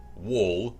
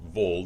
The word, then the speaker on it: Wol: Apparently, according to Final Fantasy Record Keeper, the main character of this game, their canon name is Wol, or Vol, depending upon the pronunciation, W-O-L, and Echo here is also in Record Keeper, and and they show up.